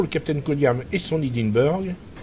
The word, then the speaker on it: Hindenburg: Captain Koniam et son Hindenburg, enfin son Hindenburg, on va le prononcer à l'allemande, hein.